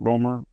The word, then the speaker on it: Romer: My siblings are Democrats, but And you were a legal counsel or Governor Romer. Is that how you pronounce it? Ror.